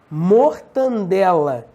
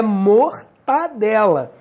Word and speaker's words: mortadela: mendigo e não mendigo é mesma coisa mortadela Porto aprendi com meu amor tá nela com guaraná mortadela não é mortadela então ortoepia TV correta